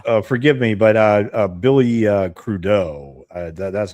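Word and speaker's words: Crudup: And forgive me, but uh Billy Crudeau, that's how you pronounce his last name. I know. I I used to pronounce it crud up.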